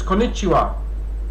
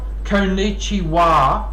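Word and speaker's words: こんにちは: So it's konnichiwa, not konnichiwa. That's how the Australian would pronounce it.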